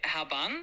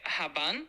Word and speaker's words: габан: Я зрозуміла, що правильно вимовляти габан. Щоно? Г. А, б, е, н. Зрозуміло. Дякую за уточнення. Тепер буду знати, як правильно вимовляти. Якщо ще щось потрібно, то як то як правильно? Правильно буде вимовляти габан з наголосом начне пахне як як фіалки навесні.